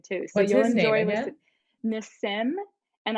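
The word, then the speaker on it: Nassim Haramein: so you'll enjoy this miss sim and i know that sounds like i'm saying it wrong but that's how he says it n-a-s-s-i-m heremin which is h-a-r-a-m-e-i-n so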